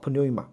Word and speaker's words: pneuma: 那英文里面的 pn 开头的时候 p 都不发音的，但是希腊文要发啊 pneuma。